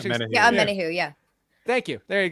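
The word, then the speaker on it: Omenihu: Yeah, Omenahu, yeah.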